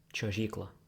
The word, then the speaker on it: čiuožykla: Then we have this is a ch, čiuožykla, slide, čiuožykla, ch.